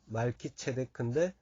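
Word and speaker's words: מלכי־צדק: 원래 발음은 말키체데크인데 이 체데크가 공의 이런 뜻입니다.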